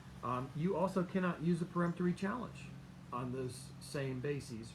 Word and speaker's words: peremptory: peremptory challenges and again it's not preemptory it's peremptory a lot of people mispronounce that word because they think you're pre-empting something but you're not it's a per m3 challenge and at a minimum